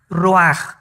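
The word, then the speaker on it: רוח: El ruaj que se escribe r u a c h ruach en el hebreo y se pronuncia igual roj.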